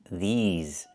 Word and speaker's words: these: I need the long e like green beans. These plus the zz sound like in zebra and zipper. These these words. Not this words but these words.